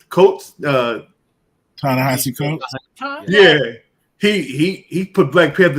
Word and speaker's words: Ta-Nehisi Coates: I don't know how to pronounce the brother's name. Coates. Ta-Nehisi Coates.